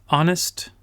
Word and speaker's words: honest: Les mots avec les H silencieux, c'est hour, honest, honor, air, H-E-I-R. Et aux États-Unis, on dit aussi herb. Mais la prononciation ici, c'est hour.